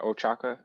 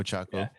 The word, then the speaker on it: Ochako: reasoning for attacking was questioning how do you pronounce it, Ochaka? Or, Yeah. yeah, Ochako.